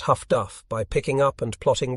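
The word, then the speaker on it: HF/DF: with ears while the highfrequency direction finders pronounced Huff Duff by picking up and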